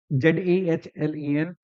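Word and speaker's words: Zahlen: Zallen। तो उसका जेड ले लिया गया, इसलिए जेड से रिप्रेजेंटेशन होने लगा। सही प्रोनाउंसिएशन क्या है? जालेन है, ठीक है ना।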